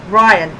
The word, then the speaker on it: Ryan: I have to keep on saying it rhymes with Brian. Ryan, who are both in the same business.